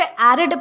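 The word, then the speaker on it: arid: दोस्तों इसे एरिड pronounce किया जाता है।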